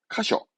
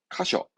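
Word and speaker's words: 箇所: 발음은 카쇼, 카쇼.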